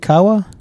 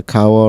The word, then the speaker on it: Kawa: Murray Avenue in Milwaukee how do you pronounce it Kawa yeah Kawa Ramen and Sushi like kawabanga kawabanga dude well anyway they have